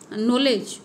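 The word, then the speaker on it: knowledge: करूँ, नॉलेज, ठीक है, अगर हम हिंदी के हिसाब से देखें तो नॉलेज की स्पेलिंग एन से शुरू होनी चाहिए, लेकिन इंग्लिश में नॉलेज की स्पेलिंग के से चालू होती है। तो ये एक बेवजह का एक्स्ट्रा शब्द, एक्स्ट्रा अल्फ़ाबेट दिया गया है उसमें, ठीक है।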